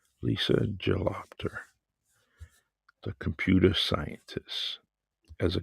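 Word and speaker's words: Gelobter: you and this great person Lisa is pronounced jalopter Lisa gelopter the computer scientists as a computer scientist jalopter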